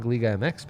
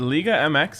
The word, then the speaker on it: Liga MX: is giving out winning league mx picks well yeah am i right is it liga mx is that how you pronounce it there you go okay